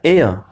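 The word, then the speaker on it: heir: एच ई आई आर एयर, यानी एन एयर, एच यहाँ पे बोला नहीं जा रहा है, एन एच जो है वो साइलेंट है।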